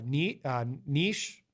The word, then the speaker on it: niche: But then you've got some that are very sort of niche. I used to say niche, but I noticed the rest of the English-speaking world now pronounces it niche.